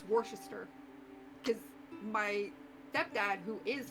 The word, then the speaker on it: Worcester: And it also shows a massive example of archaic spelling in English. Mm-hmm. Yeah, because the sauce is named after a place in England, which is pronounced Worcester.